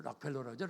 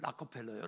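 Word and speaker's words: Rockefeller: 락펠러라죠, 락펠러. 근데 엄밀히 발음이 락커펠러예요.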